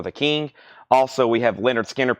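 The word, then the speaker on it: Lynyrd Skynyrd: that's $24.99 for the king also we have Leonard skinnard pronounced Leonard skinnard that is $24.99 and we have Iron Maiden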